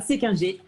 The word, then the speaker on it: Séquinger: Est-ce que je le prononce bien, Sandra? Est-ce qu'on le prononce comme ça, Séquinger? C'est bien ça, Séquinger.